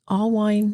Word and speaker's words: Allwein: Allwein, no beer. That's how she taught me to say it.